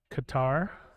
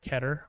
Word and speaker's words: Qatar: the stream Faisal from Qatar or ketter I think it's how it's pronounced thank you oh it